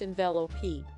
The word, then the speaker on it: Envelope: in your job envelope actually darren it is pronounced in velo p envelope is the name of